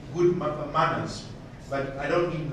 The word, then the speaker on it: MANRS: So it's MANRS, but we pronounce it as manners.